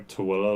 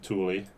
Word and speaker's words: Tooele: Tooele a little further south, because that's the Tooele Valley right there. Mm-hmm. If you want to piss off the people in Tooele, pronounce it Thule.